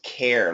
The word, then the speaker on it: care: want you it's it's not a long a but it's closer to a long a so it's care like air air care okay car fence